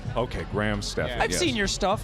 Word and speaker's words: Graham Steffen: We're joined here by Graham Steffen, who you might recognize from last year's fight against Michael Reeves. Yes.